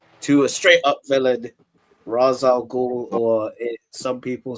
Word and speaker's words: Ra's al Ghul: it, we go to a straight up villain, Ra's al Ghul, or some people say Ra's al Ghul.